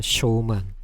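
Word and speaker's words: 小満: 소만이 두 번째 즐기는데요 소만은 쇼만이라고 있습니다 쇼만 자을 소자에 찰 만자를 써놨습니다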